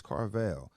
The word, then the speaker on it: Carvill: Everything Carville. Everything is Carell V. You know that's me. Now, is it Carvell or Carville? It's Carell. You know, people pronounce it.